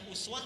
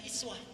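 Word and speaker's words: أسوة: Kita bacanya uswah. Tapi kalimat itu bisa dibaca dengan dua kata. Bisa dengan uswah, bisa dengan iswah. Jadi kalau kita baca riwayat Qalun, riwayat Hafs membaca dengan uswah, riwayat Qalun dan Warash membaca dengan iswah.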